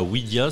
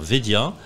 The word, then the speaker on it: Wedia: commercial de Wedia c'est alors on prononce bien Wedia et non pas wiidia ça sorortographie W ou vedia malgré le W malgré le W alors on va bien dire vedia vedia c'est quoiah vedia